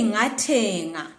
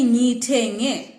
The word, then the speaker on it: ngithenge: Do not say ngathenga. Say ngithenge.